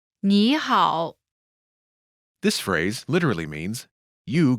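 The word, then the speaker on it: 你好: good Hall together it's nihal this phrase literally means you good but translate says hello pronunciation note when there are two third tones in a row the first one changes to the second tone listen to the pronunciation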